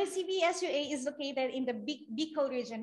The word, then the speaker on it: Bicol: Okay, so the CBSUA is located in the Bicol region. We pronounce it Bicol, not Bicol.